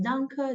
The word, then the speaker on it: danke: Thank you is danke, danke schön, which is thank you a lot, thank you very much.